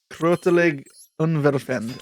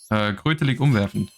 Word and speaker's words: Krötelig umwerfend: How do you say "krotelig unwerfend" in German? Like I'm butchering that, right? How do I say it? Krötelig umwerfend. Like the O with the weird Ooh. thing on top.